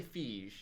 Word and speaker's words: Feige: I'm going to say Feige. Okay. Because it's spelled like siege.